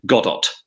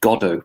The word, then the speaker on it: Godot: compared something to waiting for godo but she pronounced it goddat you know heart t at the end and her foreign secretary lord carrington uh which is lead over whispered uh is pronounced godo prime minister and she said how is it